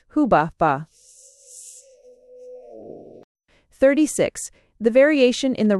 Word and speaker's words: Hubaba: Though in the latter case, as we may now conclude from the Yale tablet, the name should rather be read hubba.